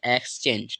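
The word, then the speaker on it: exchange: यहां पर क्या होगा जी से यहां पर ज बनता है और ई लास्ट वाला वो क्या रहेगा साइलेंट रहेगा तो इसे हम पढ़ेंगे एक्सचेंज ठीक है क्या पढ़ेंगे एक्सचेंज ठीक है एक्सचेंज का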